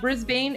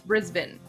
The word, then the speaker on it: Brisbane: Tommy, it's not Brisbane, it's Brisbane.